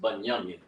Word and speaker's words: Banyamin: In Hebrew, the tribe of Benjamin is pronounced Banyamin.